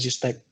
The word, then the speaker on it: Zstack: Dan tadi juga disampaikan mengenai kolaborasi dengan Zstack, ya, ngomongnya pronounce-nya Zstack atau ya. Zstack ya.